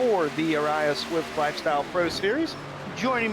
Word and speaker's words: ARCA: We're going with Ariya. That's our pronunciation we're rolling with, right? Okay, I like it. I agree. I think area can be a little tough to get out there.